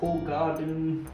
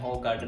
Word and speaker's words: Hoegaarden: While हम इसे pronounce करते हैं होगार्डन नाम से, लेकिन एक्चुअल में बेल्जियम में इसे प्रोनाउंस किया जाता है होगार्डन।